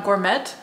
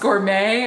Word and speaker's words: gourmet: yeah somebody a while back I said I'm gore met I was talking about the bird food I'm like Oh gore met bird food and people were like does she not know that it's pronounced gourmet and like yes I do know I was